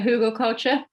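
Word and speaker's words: Hügelkultur: how you say it who got culture a Hugo culture yeah it's a um it's a type of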